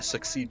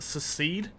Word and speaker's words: secede: Which is weird to yell if you're trying to succeed from the Empire, if you think about it. To battle. It's pronounced secede.